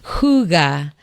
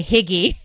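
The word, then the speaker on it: hygge: I discovered this word, it's called huga, and it it's spelled higgy. H y g- e. And I actually used to say higgy for years, but that's what I say.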